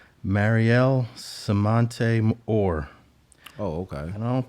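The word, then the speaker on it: Mariel Semonte Orr: 18, and this is a tough name to pronounce, but it's Mariel Samante Orr.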